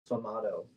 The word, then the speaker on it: sfumato: Do we have to say it like an Italian Yeah, he person?